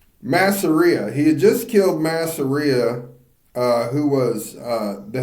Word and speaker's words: Masseria: were he just killed uh Marzia Masseria Masseria Masseria that's how you say that thank you Masia he had just killed Masseria uh who was uh the head of a